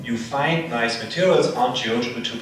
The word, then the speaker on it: GeoGebra: Yeah, sure, but how do you pronounce it, Geogebra in Portuguese? We say Geogebra.